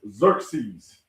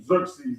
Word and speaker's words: Xerxes: Also known as Xerxes is how they say his name. Xerxes.